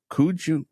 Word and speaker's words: Kooij: Olaf Kooij, Kooij, is that how you pronounce it? I believe it's Kooi.